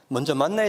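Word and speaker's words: מן: 되시기를 주의 이름으로 축원드립니다 만나에 대한 개념을 한번 정리하고 싶은데요 만나라는 말은 히브리어로 만이라 그럽니다 만 그런데 이것을 헬라어로 발음을 하면 만나가 된다는 거죠 그런데이 만나의 의미가 출애굽기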